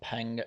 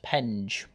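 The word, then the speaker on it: Penge: conon is selected for the new Beckham and Pang constituency in the southeast of capital before I get all the comments saying oh that's not how you pronounce it yes I did just check it's actually pronounced pen I apologize I'm from the north and I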